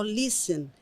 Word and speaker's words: listen: Quando você vê escrito, e você grava aquilo, listen. O T não fala, não. Aí você faz um X no T. Listen.